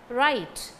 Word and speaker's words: write: first p is silent right first letter w is silent not k and ot